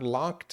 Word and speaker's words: locked: Or if I got locked away. So if you notice, that's that T sound, right? Because you have a K at the end, like walked or worked.